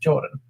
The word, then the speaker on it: Jordan: mind by the way my name is just pronounced Jordan well thank you Jordan